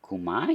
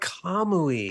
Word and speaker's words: Kamui: It's the Dagger of Kumai? Oh, Dagger of Kamui. Kamui. See, that's the thing is I've needed a soundboard all these years. I've been saying it wrong.